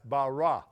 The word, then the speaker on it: Barras: we had David Barras I say Baris but as daddy says that's bara the way they're pronouncing Lafayette in that air David Barra and Mike